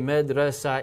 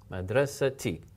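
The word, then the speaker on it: مدرسة: I had medressa now you don't say medressa e no because this is now a tap medressa t madrasa t it's pronounced same thing with Medina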